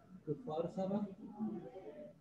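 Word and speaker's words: Kfar Saba: How to pronounce it? Kufarsaba?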